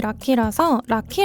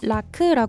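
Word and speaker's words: Rakı: 라크 있니다 라크는 영어 스펠링이 라키라키 아고 읽기도 하는데요 르키는 라크라 발음합니다 이제는 터키가 아닌 티키가 됐으니까 라키 라크라 바로 읽어 줍시다 라크는 티케의 전통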